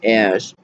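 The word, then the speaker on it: Sjögren's: But, however, excuse me, uh, I have uh, a diagnosis that's called Sjogren's, which is spelled totally different than what it sounds like. It's Sjordans, and it's a type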